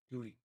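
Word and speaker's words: Guéhi: Gooey.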